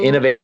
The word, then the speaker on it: INNOV8: So So, Innovate is spelled INNOV8.